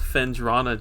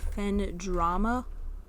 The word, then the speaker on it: Phendrana: It's called Phendrana Drifts. Phendrama? It's an N, not an M.